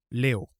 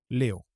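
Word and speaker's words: leo: Aujourd'hui, en swahili, on dit Léo. Ça s'écrit L-E-O. Léo.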